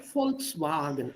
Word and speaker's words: Volkswagen: And Volkswagen. Auf Deutsch Volkswagen. Ah, not wagon.